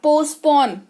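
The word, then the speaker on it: postpone: स्थगित करना या टाल देना, पोस्टपोन पढ़ते हैं इसको। क्या पढ़ते हैं? पोस्टपोन, ठीक है। पोस्टपोन नहीं पढ़ते हैं प्लीज, पोस्टपोन नहीं होता है, टी साइलेंट है यहां पर।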